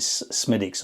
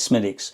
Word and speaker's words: Smithwick's: When we went to Ireland, we got into a drink called they pronounce it Smithwick's. I think it's Smithwick's. It's spelt, but it's Smithwick's, which is a ruby or a red ale.